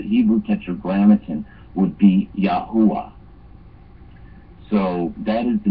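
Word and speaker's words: Yahweh: had doctorate in it told me the correct pronunciation for the Hebrew Tetra grittin would be yahwa so so that is the name of the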